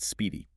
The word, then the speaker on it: SPDI: In the industry, they pronounce it speedy.